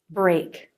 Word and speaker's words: break: back enough burr break then we have the ay as in say diphthong a for this the jaw drops more for the beginning of the sound and less for the end of the sound a Bray at the end keep your tongue tip